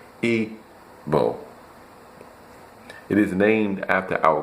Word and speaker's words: Igbo: It is pronounced Ebo.